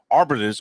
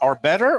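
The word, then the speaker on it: Arbetter's: I got my Arbiters, or is it how is it pronounced? Arbetter or Arbiters? Arbetters. Arbetters.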